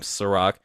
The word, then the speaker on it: Serak: Just type in the weekly review, or it may be easier to type in my name, Serak, which is Serak. I know, unfortunately, it's not spelled like the liquor, but I promise you, I taste way better.